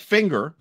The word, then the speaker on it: finger: they're pronouncing somebody's name linger linger linger would be an example like finger uh there's there's an extra G there's two sounds there okay so what what